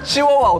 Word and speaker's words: chihuahua: It's chihuahua, but he said chiwooawooa! Chiwooawooa is five syllables!